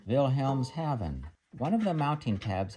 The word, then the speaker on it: Wilhelmshaven: German ship's clock today I believe it's pronounced a Schuman vilhelms Haven one of the mounting